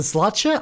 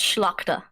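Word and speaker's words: Szlachta: I think it's a slotcha. I'm definitely butchering it, so don't worry if you butcher it too. It's pronounced Schlachta.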